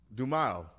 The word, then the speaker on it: Dumile: Dumille? Dumile.